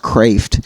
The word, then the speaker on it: Kreeft: but like for lay people such as myself, Peter Kreeft, it's pronounced Kreeft.